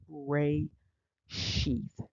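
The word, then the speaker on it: רֵאשִׁית: a feminine noun and the pronunciation is R sheath and so this is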